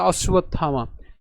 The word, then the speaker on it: অশ্বত্থামা: হচ্ছে কি বন্স্তব আর আমরা জানি যে অন্তস্থ ব এর উচ্চারণ কার মত হয় উ এর মত হয় তাহলে এটার উচ্চারণ কেমন